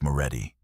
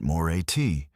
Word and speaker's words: Moretti: "It's Moretti," he corrected, syllables clipped. Not more at if you're going to announce him, at least do it correctly.